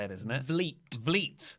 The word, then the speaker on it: Vliet: Vliet. Like fleet.